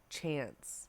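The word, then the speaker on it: seans: Just Like Home a shance was is pronounced like chance so it's like oh chance chance chance watching The Toy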